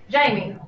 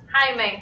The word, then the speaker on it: Jaime: Jaime. Jamie, right? Jaime. That's how you say it in Espanol.